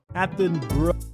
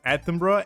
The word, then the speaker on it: Attenborough: There's too many O's in there to just be Attenborough. Attenborough.